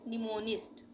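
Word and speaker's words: mnemonic: निमिक उसी तरह से निमोनिक एम एन ई एम ओ एन आई एस टी निमोनिक यहां पर भी एम साइलेंट हो रहा है निमोनिक और हो गया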